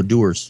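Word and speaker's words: Dewar's: I have is my little how do you pronounce that dewars oh doers doers that's next you got enough don't worry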